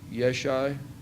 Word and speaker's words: Yeshai: Yeshai is Jesse. He said Jesse like father of David, but they pronounce it Yeshai.